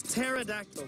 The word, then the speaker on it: pterodactyl: It's pterodactyl, man. Actually, nobody knows how to pronounce it because no one was alive back in dinosaur days, so.